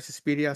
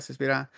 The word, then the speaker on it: Suspiria: Suspira, Suspiria.